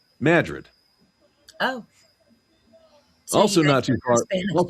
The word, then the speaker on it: Madrid: So there's a town not too far from me spelled Madrid, Okay. but pronounced over here Madrid.